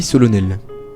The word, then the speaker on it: solennelle: on fait la nuit solennelle. Solennel. Solennelle. C'est parce que ça s'écrit avec un E que ça dit solennel.